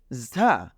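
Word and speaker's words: ز: নুক্তা দিয়ে দেই তাহলে এটার নাম হয়ে যাচ্ছে ঝা এটাকে আমরা বলছি ঝা তাহলে এটা হলো র এটা হলো ঝা নুক্তা নেই নাম হলো র নুক্তা আছে নাম হলো ঝা র ঝা র ঝা আলহামদুলিল্লাহ আমরা শিখলাম র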